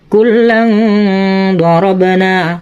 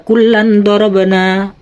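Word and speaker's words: كلا ضربنا: Jadi bacanya gini, kullang dorabana, jadi tidak boleh dibaca kullan dorabana.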